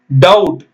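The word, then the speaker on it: doubt: bomb C ஓ எம் Pym gonna சீப்பு பி உச்சரிக்க கூடாது ஆனா பி எழுதணும் டி ஓ யூ டி டவுட் சந்தேகம் டி பிடி டெத் கடன் பிளஸ் பி எல்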